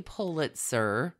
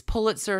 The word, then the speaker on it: Pulitzer: Palm Beach businesswoman, heroine, bravado goddess, Lilly Pulitzer. Huh. And her divorce from her first husband, Peter Pulitzer. I'm going to go ahead and emphasize Pulitzer. It's Pulitzer, not Pulitzer.